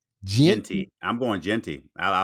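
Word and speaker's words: Jeanty: How you pronounce his last name? Genty.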